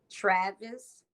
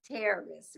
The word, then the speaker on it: Taris: Her name is Travis. Terrace. Terrace, Tavis. I'm sorry. That's a, Tavis. And she is Terrace doing, is huh? like it rhymes with Paris, but with a T.